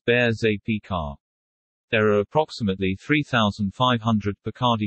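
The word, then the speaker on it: Berger Picard: out as dependable playmates a burger picard is usually pronounced as bears ap car there are approximately 3500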